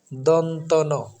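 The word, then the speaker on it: দন্ত্য ন: যন্ত্রণান্ পড়ি এরকম বিভিন্ন ভাবে পড়ি কিন্তু সঠিক উচ্চারণটা হচ্ছে দন্তন কারণ ব্যাকরণের ভাষায় এটাকে দন্তমূলীয় বর্ণ বলে এজন্য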